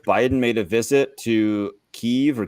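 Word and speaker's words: Kyiv: guess February 20th Biden made a visit to keev or Kiev I still don't really know how to say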